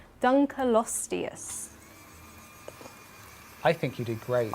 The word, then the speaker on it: Dunkleosteus: And that is, oh no, pray for me with this pronunciation, Dunkleosteus.